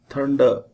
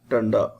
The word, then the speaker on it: thunder: first word is thunder thunder it cannot be read as tanda thunder r is silent very important it is